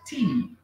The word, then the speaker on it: tea: E aqui nós temos tea. Olha só a pronúncia. Tea. Tem o A ali, mas esquece esse A, gente, ó. Tea, isso. Não vai som do A, só tea, que significa chá.